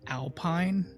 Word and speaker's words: Alpine: They their spelling is the exact same as like Alpine, like the landscape with like the pine trees and stuff like that.